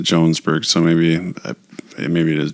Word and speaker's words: Jonesburg: song is Jonesburg Illinois spelled Jonesburg but he kind of pronounces it Jones BG so maybe maybe it